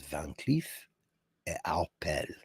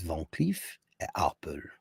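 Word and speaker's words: Van Cleef & Arpels: I always thought it was Van Cleef et Arpels. It's not. It's Van Cleef et Arpels. Arpels.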